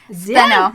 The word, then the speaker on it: Stheno: How do you spell it? Stheno. Stheno.